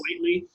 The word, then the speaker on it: Quitely: favorite books, We3 by Grant Morrison and Frank Quitely. Mm-hmm. Did I pronounce his name correctly? It yes. is Quitely, which is like a pen name, I think.